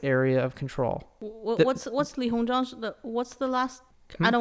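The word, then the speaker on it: Li Hongzhang: with china china's diplomat lee hong shang hong li hong jong okay okay but what she said splitting up the tonkin area between french and chinese area of control what's what's li hong jong what's the last i don't want to get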